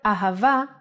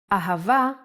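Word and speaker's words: אהבה: so as I mentioned hey can sound like both ha and ah the word ahava uses it in both ways when hay appears in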